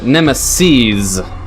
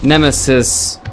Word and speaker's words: Nemeses: So the developer pronounces it Nemeses, not Nemesis, but Nemeses, because there's multiple, and it's about clowns.